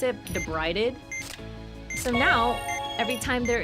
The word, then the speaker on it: debrided: it was actually called like that's how you pronounce it debrided so now every time there is a rud